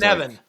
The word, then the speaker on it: Cynefin: This is Cynefin, the Cynefin framework. Cynefin. Ah. It rhymes with Kevin.